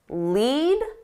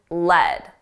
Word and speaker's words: lead: Two pronunciations, lead and lead.